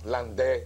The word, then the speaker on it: Landais: landais quien dijo textualmente Land porque es una pedido francés se escribe landais pero el a se pronuncia e el Bongo ahí aprenda